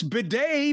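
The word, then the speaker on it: bidet: It's bedday because it's French.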